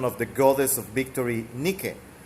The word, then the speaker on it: Nike: the goddess of victory Nikki you might have seen that name but pronounces Nike and it's a brand